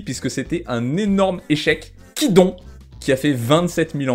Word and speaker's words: Kidon: Bon, finalement ça se prononce Kidon.